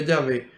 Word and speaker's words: Yahvé: Esas son las 4 letras y al agregarle vocales entonces se pronuncia Yahvé, porque el hebreo no posee vocales, son todas consonantes, YH, WH. En español, Yahvé.